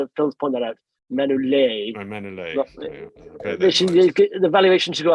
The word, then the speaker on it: Manolete: It's not Manolete. It's Manolete, we should say. Phil's point that out. Manolete.